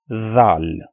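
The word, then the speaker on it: ذ: Again, you pronounce this sound from exactly the same point from where you pronounce this sound, Sa. Like you have to place your tongue between your upper and lower teeth to pronounce these 2 sounds.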